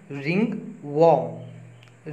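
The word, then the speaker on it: ringworm: दोस्तों, दाद को बोलते हैं हम रिंग वॉर्म। रिंग वॉर्म, इसमें वॉ रे साइलेंट रहता है, वॉर्म होता है, रिंग वॉर्म।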